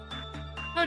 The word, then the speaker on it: Hod: Hode, I said it right.